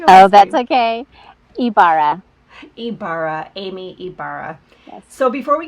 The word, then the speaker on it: Ibarra: to pronounce your last name how do you pronounce oh that's okay kee Barra Ibarra Amy Ibarra so before we get started with